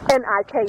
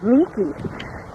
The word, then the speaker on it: Nike: the statue Athena Niki n i ke e you may pronounce it Nike but in Greece it's pronounced Niki and Niki means Victory